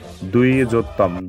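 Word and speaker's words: द्विजोत्तम: ঠিক থাকলো এই দ্বিজতম এই শব্দটিকে দেখো আমি লিখে দিয়েছি উচ্চারণের জন্য দুইজতম দুইজতম কিভাবে আসে সেটি এবার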